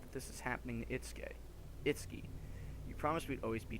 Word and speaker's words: Itsuki: If we hadn't run away, Itsuki and the others didn't have to be I've been pronouncing it wrong. It's Itsuki and Mitsuki.